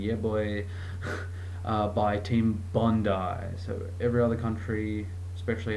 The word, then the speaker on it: Bondi: attached to the word bond you know it's not bondy or some random that just sounds totally out of whack it's Bondi get it right not that hard and